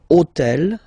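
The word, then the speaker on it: hôtel: took on purpose this hotel okay because it starts with Ash but remember that in French we don't pronounce Ash okay so basically the first sound of the word is the vowel O Okay so for the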